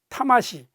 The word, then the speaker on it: 魂: 일본어로 는 " 타마시이 " 라고 발음 하는데 , 이는 그 영혼 을 가리킵니다 .